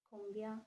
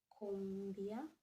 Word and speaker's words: combien: So don't write combien like this. No. The C avec CD has to be read as S. Okay? We actually did pronunciation some time back. So this is combien.